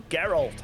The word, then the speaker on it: Geralt: Witcher telling me, like, it's Geralt, okay? And yeah, it's Geralt in that, but it's spelled different, isn't it? I think it's with a T at the end.